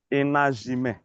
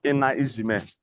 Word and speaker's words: enajime: You say enajime, not enaijime.